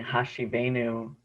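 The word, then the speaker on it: השיבנו: Let's center our hearts with singing Hashiveinu, which is text from the book of Lamentations.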